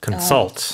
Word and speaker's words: consult: And the stress is on the second syllable, consult.